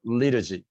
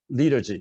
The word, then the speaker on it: liturgy: liturgy 이렇게 발음하죠. liturgy. 보통 원어민들이 T를 약하게 해가지고 liturgy 이렇게 합니다. 물론 형용사는 liturgical이니까 T가 제대로 발음이 되죠.